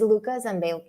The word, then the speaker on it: Luca Zambello: course, the guest of honor, the most important person of today's show is Luca Zambello. I did it, the Spanish pronunciation. It's not Spanish, it's Italian.